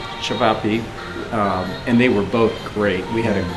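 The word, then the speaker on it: ćevapi: One had the the spinach dishes and then the other one had the how do you say Shvapi. Shabbappi.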